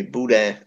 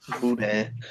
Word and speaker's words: boudin: like you guys okay try to say it with me Buddha Buddha Buddha is it's a sausage